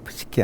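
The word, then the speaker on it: Psyche: 프시케 어 이게 이제 영어로 하면은 피가 묵음이 돼요. 사이로지 할 때에 그런 근데 독일르에서는 피가 이제 묵음이 안 되거든요. 푸시케 하면 요게 보통 이제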